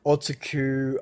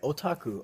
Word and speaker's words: otaku: hardest time pronouncing otaku because i was trying to americanize it it's like otsuku odaku something but now looking back it's like otaku oh okay okay but